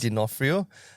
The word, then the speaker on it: D'Onofrio: the O is silent, Yes. D'Onofrio, was so familiar.